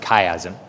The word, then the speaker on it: chiasm: The first of which is chiasm, or some people pronounce it chiasm. It's spelled C-H-I-A-S-M.